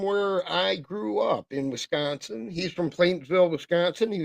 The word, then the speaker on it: Wisconsin: And no, I am not going to say Wisconsin like Creed does, Mary, because that's not how we say it. It's Wisconsin. Got to put the emphasis on the right syllable.